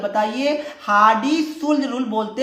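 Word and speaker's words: Hardy-Schulze: सा रूल है बताइए, हार्डी-सुल्ज रूल बोलते हैं, बट स्पेलिंग को थोड़ा ध्यान रखिएगा, SCH ULZE बोलते हैं, ठीक है। ये क्या है, हार्डी-शुल्ज रूल इसको बोलते हैं, ठीक है।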